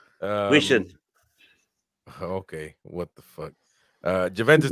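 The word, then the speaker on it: Huijsen: And how do you say that name, by the way? Dean Hodgson? Wishin.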